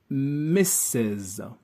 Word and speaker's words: Mrs.: let's wrap up so when the woman is married we use misses when the woman is